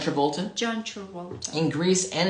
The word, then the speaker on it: Travolta: How do you pronounce his John name? Travolta.